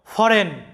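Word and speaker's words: foreign: দেখো, ফরেন, ফরেন এখানে লক্ষ্য করো জি এর উচ্চারণটা সাইলেন্ট আছে, ফরেন মানে হচ্ছে বিদেশি।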